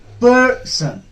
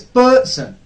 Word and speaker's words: person: do we pronounce it person stress syllable has to be a bit louder bit longer and on a higher pitch per sun if you